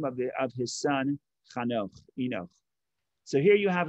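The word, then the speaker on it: חנוך: In English, they pronounce it Enoch. In Hebrew, Chanoch. And he was building a city, and he called the city after the name of his son, Chanoch, Enoch.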